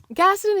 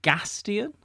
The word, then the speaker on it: Gaston: Is it Gaston? It's Gaston, like Gaston. It's Gaston. His name's Gaston, right? But it's America, so we say it Gaston.